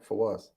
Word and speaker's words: Fawaz: Is it Fawaz or how do Yeah, you you got pronounce it that? perfect. Yeah, Fawaz.